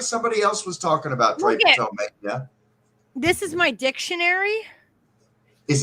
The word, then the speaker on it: drapetomania: DRAPETOMANIA. Drape to mania. Pronounced drapetomania.